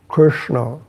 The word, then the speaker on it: Krishna: It's Krishna. But who pronounces, from doesn't have an Indian tongue, who pronounces Krishna, Hare Krishna?